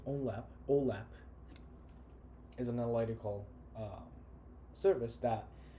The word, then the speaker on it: OLAP: Whereas online analytical processing, which I pronounce it usually OLAP, is an analytical service